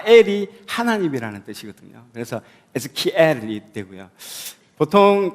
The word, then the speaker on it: Ezekiel: 여기 보면 이름 자체가 이제 한국으로 번역하면 에스겔이라고 되어 있는데, 실제로 영어는 에즈키엘입니다. 에즈키엘. 발음, good.